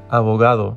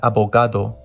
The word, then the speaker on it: abogado: However, everywhere else, the letter G is pronounced with a soft G sound, which doesn't really exist in English, but just think of it as a soft G sound. Examples for this are pagar, abogado, not pagar, abogado.